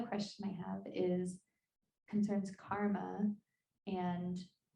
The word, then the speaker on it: karma: The pronunciation is karma, okay? And except when you're having car trouble, then you can say karma. All right, no problem. Then we are allowed to say karma. Otherwise, it's karma.